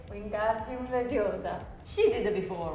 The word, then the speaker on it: Leviosa: It's not Leviosa. It's Leviosa. Leviosa. In Italy, we say Wingardium Leviosa.